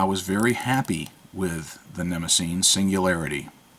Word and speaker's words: Nemosine: I have heard several different ways to pronounce this pen's name. Nemo sign, Nemesine. Well, I'm going to call it Nemesine, just because Nemosine, that's how it should sound to me.